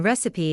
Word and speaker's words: recipe: The first vowel in recipe is short, and the word has three syllables.